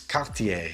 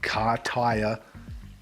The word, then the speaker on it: Cartier: declaration it's not declaration it's cartier it's not car tire wait car tire never